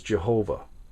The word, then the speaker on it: Jehovah: This is the word in Hebrew that you would know as Jehovah, or Yahweh is another way that it's pronounced.